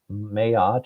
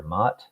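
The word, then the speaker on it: Ma'at: 42 principles of mayot that is spelled m apostrophe a t mayat or mat you had to pass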